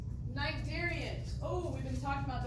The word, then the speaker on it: Cnidarians: Cnidarians. Oh, we've been talking about those guys. Remember, the sea is silent. Cnidarians.